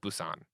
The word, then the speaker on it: Busan: want to say that Busan a spelling bee usan so it sounds like Busan I don't know where that is great and is currently out of motel no telling a faceless pic Busan okay um we get